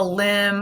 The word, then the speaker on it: limb: legs okay and it could also be the limb of a tree which would be like the